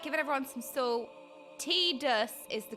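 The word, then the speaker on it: Tidus: T-dus is the correct pronunciation.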